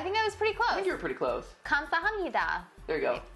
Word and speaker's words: 감사합니다: 감사합니다. Oh, I think I was pretty close. I think you were pretty close. 감사합니다. There you go. 감사합니다.